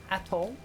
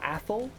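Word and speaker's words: Atholl: um airport is uh blair atoll or athol depending on how you want to pronounce it and we follow the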